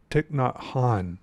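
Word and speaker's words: Thích Nhất Hạnh: were by this um this Buddhist monk named ticknot Han I think is how you say his name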